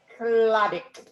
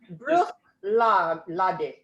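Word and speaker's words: Bruichladdich: So you know that CH in Scotland is almost always a sound. Yeah. Like loch. But the exception here is that the last CH is silent.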